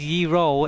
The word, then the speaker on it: gyro: Uh, but not often pronounced as ye roll is a traditional Greek sandwich.